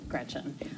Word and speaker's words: Gretch: named after my grandma Gretchen, who I adore. It's funny though, because she always said, never let anyone shorten your name. Don't let people call you Gretch, because it rhymes with wretch.